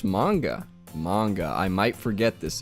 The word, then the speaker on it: manga: Mongo. You don't say mongo. It's mango. Manga. It is manga.